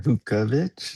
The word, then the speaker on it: Vuckovich: Let's do Cy winner Vuckovich.